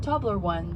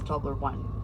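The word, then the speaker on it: Toblerone: people couldn't speak English so instead of saying tobler one they started saying tobler own and it's stuck and you still even though you don't speak Swiss you all pronounce tobleron the Swiss way nobody says tobler one Emil says tobler one please don't say tobler one it's very very strange sounds sounds very alien I like we're entering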